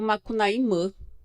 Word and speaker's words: Macunaíma: Que não é o deus indígena Macunaíma, que a gente chama de Macunaíma, mas que os Macuxis, eles também pronunciam Macunaímã.